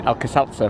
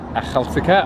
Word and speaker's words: Akhaltsikhe: I always was saying Akhaltsikhe for a while, but Akhaltsikhe I think is the right one.